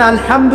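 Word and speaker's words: الحمد: প্রতিপালক বা মালিক আচ্ছা এখানে আলহামদু কেমন করে উচ্চারণ করেছেন কোথা থেকে মাঝখান থেকে না আচ্ছা আলহামদু অর্থ সমস্ত প্রশংসা যদি কেউ বলে আলহামদুলিল্লাহ অর্থ কি হবে অর্থ উল্টে যাবে অর্থ হবে সমস্ত নিন্দা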